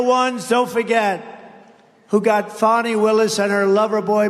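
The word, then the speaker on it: Fani: It's called Fanny. You have to pronounce Fonnie. I don't know how she gets. She should add a little U in there someplace if she wants people to call her.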